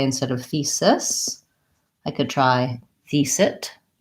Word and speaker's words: thesis: the vowel so I would say instead of thesis I could try thise it and then and